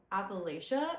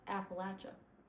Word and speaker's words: Appalachia: Also, I used to say Appalachia and then I moved to Tennessee and everyone says Appalachia and apparently that's like the correct way to say it. Um, I don't know why I did air quotes. Apparently, that's the correct way to say it. So, for the people who don't know, it's Appalachia.